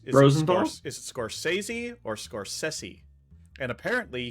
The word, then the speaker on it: Scorsese: still Marty's last name it's is is it scorsi or scors sessi and apparently he says it's scors sessi okay well someone can be wrong about their